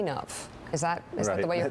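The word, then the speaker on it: Mlodinow: Mladinov. Is that the way your father says it? Or Mladinov, as we say in America here.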